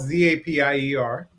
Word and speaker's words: Zapier: know and it's it's it's spelled z-a-p-i-e-r um it's a zapier like if you want to be happier and what makes it